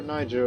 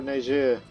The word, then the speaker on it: Niger: form the Empire of lower Niger or lower ner um which depends on the pronunciation of it so we're only 34